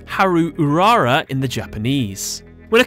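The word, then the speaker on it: 灰流うらら: girls, starting with Ash Blossom and Joyous Spring, pronounced Haru Urara in the Japanese.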